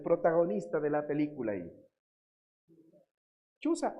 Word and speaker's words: Chuza: Chuza o Cusa, ¿no? Se puede pronunciar también así el nombre, ¿no?